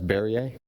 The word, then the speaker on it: Barrier: You got a resolution for acceptance of the Berry construction of Dunn Road? Correct. I think the correct way to say that is Barrier.